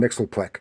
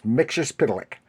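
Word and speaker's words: Mxyzptlk: which which actually wrote out how to to pronounce his name and I know a lot of people want to calling him Mixel because they don't know how to but it's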